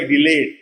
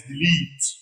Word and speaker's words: delete: Mostly mispronounced like delayed. No, it is delete.